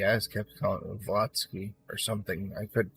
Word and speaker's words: Blavatsky: Blavatsky, I just kept calling it Blavatsky or something. I couldn't pronounce it last time either.